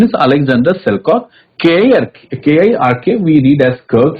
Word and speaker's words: Selkirk: Dear student, you can able to see some pronounce it as Alexander Selkirk, but its actual pronunciation is Alexander Selkirk.